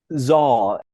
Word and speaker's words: Saal: I'm not going to correct anyone who pronounces it Saul because I've done the same, but I've heard a lot of people who know more than I do pronounce it Zoll. So I'm going to go with Zoll.